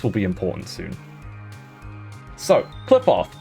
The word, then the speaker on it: Kliffoth: So, clip off, pronounced Cliff.